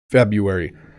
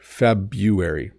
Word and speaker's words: February: as a paper copy February excuse me so there's an r in here and some people do say it but most people don't February February January February March